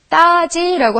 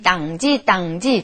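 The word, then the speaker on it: 땅 지: 자, 이거는 따지라고 하던데 이거는 땅지인데요. 발음이 땅지, 땅이라는 게 어려워서 그냥 따지라고 하지만 원래의 뜻은 땅이죠, 땅.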